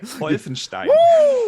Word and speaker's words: Wolfenstein: Before we give it to Addict, Boxer, give me that correct German pronunciation. I love when he says, what's that? Wolfenstein.